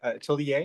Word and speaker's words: atelier: Um, well, it's a French loanword, so we can pronounce it however we want. But Atelier is probably how we would Atelier.